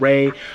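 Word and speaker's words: Rai: I don't really know much about this artist called Ray. It's spelled with the I, R-A-I.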